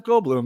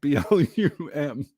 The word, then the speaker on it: Goldblum: I know, it's just Jeff Goldblum. That's all. But it's spelled Bloom. It's not Bloom, like BLUM. It's Bloom, not Blum.